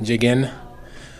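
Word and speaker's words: El Hadji Diagne: El Hadji's last name looks like alphabet soup, but the breakdown when it comes to pronouncing it is pretty easy. Jigen, El Hadji Jigen. But to make it easy, you can just say Haji and say Jigen.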